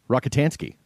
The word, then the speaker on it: Rockatansky: Rockatansky.